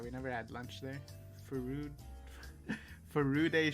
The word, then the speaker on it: Furude: Furude Shrine. I know someone commented on my pronunciation, as I used to say Farud.